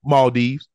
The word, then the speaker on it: Maldives: The mall, how you say it? Maldives.